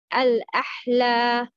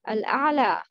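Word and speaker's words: الأعلى: Al-a'la, al-ahla. Which one is right? Yes, the first one. Al-a'la.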